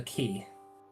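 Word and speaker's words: quai: called uh um the key. That's spelled like qu. Uh, yes. It is actually spelled qu u a i like the French word.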